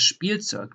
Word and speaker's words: Spielzeug: So that is in German a sh, p. So you pronounce like a SCH and then a P in addition. For example, you have das Spielzeug, the toy.